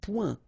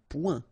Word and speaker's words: point: Un point. Un point. Alright, so you can see that here the only difference is the final letter, okay, but then they are pronounced the same way and both of them are masculine.